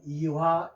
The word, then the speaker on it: 이화: 자, 그래서 왜 옛날 배우신 분들은 요거를 WH를 화라고 읽었습니다. 화. 자, 그래서 화 그대로 이렇게 썼는 이화 여자대학교입니다.